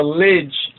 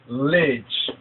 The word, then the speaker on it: Lij: The sermon of the Lidj. Right, L-I-J, some spell it L-I-D-J. That's the older, because the J actually is a modification of the D sound.